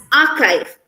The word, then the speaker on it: archive: pronounce it as ker as an architect not uh like chair as in church we pronounce this as